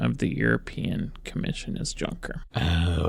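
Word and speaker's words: Juncker: the European Commission is junker oh it's somebody's name okay oh I think it's Yonker I've heard it I haven't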